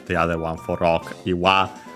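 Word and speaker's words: 岩: Yeah, combines the two kanji, one for boulder, the other one for rock, Iwa, respectively, and Ishi, both accent on the last mora on their own as the strictly Japanese readings.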